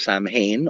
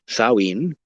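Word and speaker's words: Samhain: us thanks to the Celtic peoples thank you saen also known sometimes of Sam Hayne although it is pronounced saen I'm enough of an etymologist and mythologist and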